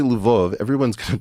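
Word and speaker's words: Lviv: way if I say Luv everyone's going to correct me and say no no Eric it's leviv it's like no these spit these cities all have multiple pronunciations I I always thought of levov was a Polish City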